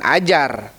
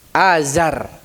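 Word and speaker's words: آزر: Nah, bukan ajar. Azar ya. Bukan ajar tapi Azar. Siapa bapaknya? Nabi Ibrahim. Ajar katanya salah. Jangan dengan jim tapi dengan zai.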